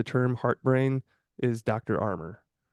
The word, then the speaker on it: Armour: Armour, Dr. J. Andrew Armour, except it's spelled Armour instead of, like armor, Armor.